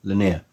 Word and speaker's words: Lennier: I always get that name wrong. Lennier.